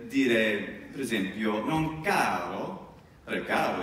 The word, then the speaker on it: caro: È difficile fare, però, ad alta voce, di nuovo, caro.